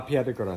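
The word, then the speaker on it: Piedigrotta: And we're here at La Piedra Grotta. Did I say it right? La Piedra Grotta.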